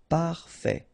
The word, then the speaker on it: parfait: Final T not pronounced. Parfait.